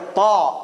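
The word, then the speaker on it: ط: Ta is not a T. It's like a ta. It's like a pa. You have to hit the tongue above.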